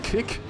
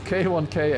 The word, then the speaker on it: K1K: It is not kick it is K1K actually.